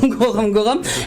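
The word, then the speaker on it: Gorom-Gorom: de la zone de, c'est quoi, je crois, Gorom Gorom, je prononce bien, hein. Voilà, Gorom Gorom.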